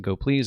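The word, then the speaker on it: gopls: Imagine um go please you know go pls uh which you pronounce it go please is the go language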